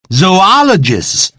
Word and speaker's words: zoologists: 来自于 zoo 但是呢这个要念成肉因为后头另外一个 o 呢变成 ologists 学问者 zoologists